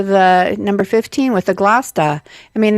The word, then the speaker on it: Gloucester: number 15 with the Gloucester. I mean, they kind of have the same, CESTER for the last part of the word, but in one word it's pronounced ta, and the other it's stir.